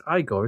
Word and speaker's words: Igor: Take Eigore, which is weird actually because I spell it with an E in the instructions, but it's Igore, isn't it?